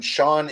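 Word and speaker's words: Ciogn: is a funny one Sean is spelled c-i-o-g-n so it's like this extremely almost like Gaelic kind of name right so you say it out loud it's just like Sean oh yeah I know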